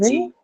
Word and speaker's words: refugee: Now, refugee, I think this we discussed. Refugee, A noun. it's a noun, and the stress Noun. should be on Second Last syllable. second last Uh, syllable. syllable. third, ma'am. Ah, Third. yes, third syllable. Refugee. Correct. Third syllable. Refugee, right? Because you have what? Long vowel. Long vowel. Correct.